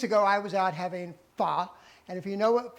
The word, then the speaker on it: pho: A few weeks ago, I was out having fa. And if you know what fa is, it's not fo, it's fa. It's kind of like saying duh, but fa.